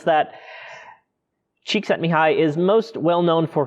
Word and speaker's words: Csikszentmihalyi: Flow theory was coined by Hungarian-American psychologist Mihaly Csikszentmihalyi. Yes, that's how you pronounce that. Csikszentmihalyi is most well known for his work in the study of happiness and creativity.